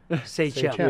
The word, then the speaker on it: Sachem: He said, just think about it. Say them, Sachem.